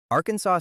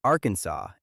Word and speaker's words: Arkansas: Arkansas state law says the name must be pronounced Arkansas and not Arkansas. The resolution passed in 1881 stated that the correct pronunciation followed the traditional usage inherited from the French and based on the